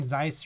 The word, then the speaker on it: Zeiss: that aren't Mr Carl's you're saying Zeiss right it rhymes with nice okay uh this guy